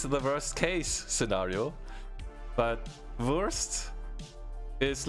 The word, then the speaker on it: Wurst: So the German word for sausage is Wurst, and there is the sausage and cheese scenario in Germany. Because if you take the German words and pronounce them slightly wrong, it becomes the worst cheese worst case scenario.